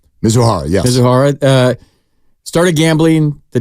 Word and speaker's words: Mizuhara: His interpreter, Mizuhara, is that how you say it? Mizuhara, yes.